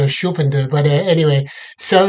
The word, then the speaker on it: Schumpeter: I think in German it's probably pronounced Schumpeter, but in English it's Schumpeter.